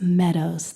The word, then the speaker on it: mmeadows: And it's not mmeadows. It's just Meadows. The first M is silent.